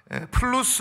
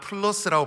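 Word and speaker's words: plus: 플루스 울트라라는 말을 살펴봤습니다. 플루스는 라틴어인데 그냥 우리가 쉽게 발음하는 플러스라고 발음해도 틀리지 않아요.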